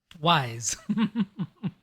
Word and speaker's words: Ys: Had you played Ys by this point, or Eyes, or however you want to pronounce it, the Falcom series? Wise. Yes.